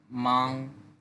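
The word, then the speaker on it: 忙: প্রথম ভোকাবুলারিটা হচ্ছে মাং। এটার অর্থ হচ্ছে ব্যস্ত। সেকেন্ডনে উচ্চারণ করতে হবে।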